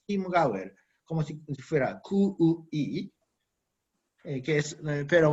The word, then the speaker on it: Chiemgauer: en Baviera se pronuncia Chiemgauer, como si fuera QUI, pero bueno, se escribe Chiem, pero se pronuncia como Kim, ¿no? Que es el dialecto ahí, ¿no? Ahí en Baviera. En alemán estándar sería Chiemgauer, pero bueno.